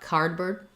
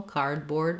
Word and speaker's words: cardboard: where in these words we stress both syllables but the primary stress is going to be on the first syllable so it's not cardboard we don't reduce that second syllable cardboard we say clear vowel